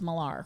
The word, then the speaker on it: Mylar: But Frank Mylar, whose name is Millar, right?